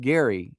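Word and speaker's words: Gerry: His name is spelled ge r y but it's pronounced Gary I've been told when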